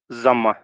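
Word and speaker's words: ضمة: and this is called zamma. लिखा तो ये जाता है दम्मा, ठीक है, बट इसको जम्मा पढ़ा जाता है. In English, it is written as Dhamma, but it is pronounced as Zamma.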